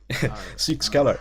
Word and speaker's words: Psykskallar: Help me pronounce this one. Team Psykskallar. It's Swedish. Psykskallar.